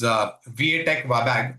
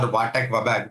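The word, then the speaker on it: VA Tech Wabag: One company that we have coverage over here is Viatech Wabag or Vatek Wabag, whichever you want to pronounce it.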